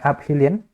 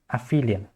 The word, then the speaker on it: aphelion: be a and the abhilian will be b okay you actually pronounce this one as aphelion okay perihelion and number